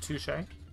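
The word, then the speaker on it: touché: it's pronounced touche.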